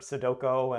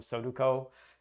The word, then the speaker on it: sudoku: with a knowing sense there are like eight ways you could pronounce the the u's and o's and i've heard all of them soduco is is i think the most common uh really really off way but i at least